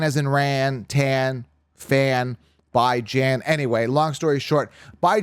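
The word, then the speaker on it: Bijan: the other but the number three I got by J and Robinson now some people say well that's not how you pronounce his name but it is we went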